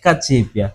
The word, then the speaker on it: Cacipia: seja, de matriz africana, a letra C nas línguas ovimbundos é pronunciada Che. Ok. Então a pronúncia é Chi. Então estou a pronunciar bem o seu nome. Corretamente. Ok, Cachipia.